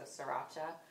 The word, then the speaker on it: sriracha: So I was going to use this is, I never can pronounce it, sriracha, I pronounce it, but there's an A at the end, so sriracha.